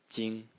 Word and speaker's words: 菁: in this series is pronounced also Jing Jing in the first tone and it means Lush